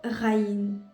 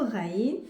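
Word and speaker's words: غين: Et pour la prononciation, c'est presque le R. Le R par exemple, le ra, le R dans forêt, ça fait pareil que le ra.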